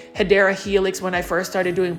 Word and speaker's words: Hedera helix: And for those that are watching this video for the first time, I mispronounced Hedera Helix, which is the correct way to say English ivy, as Hydra.